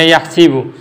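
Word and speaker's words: يَحْسِبُ: Tapi di riwayat lain kayak Imam Warash an Nafi' itu bacanya yahsibu.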